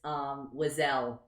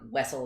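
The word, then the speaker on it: Wesell: So there really is no right answer, but Jacob and I both think Wessel is the right answer.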